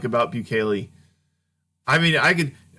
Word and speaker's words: Bukele: How do you pronounce his last name? Bukele. Bukele.